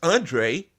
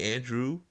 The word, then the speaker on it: Andre: my name wrong too it's Andre but some people call me Andrew I'm serious Andrea like